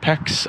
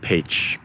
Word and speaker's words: Pécs: the city of page peach you might think it's spelled pecs i did too when i first got the hungry but it's pronounced paige you can see the first hints of the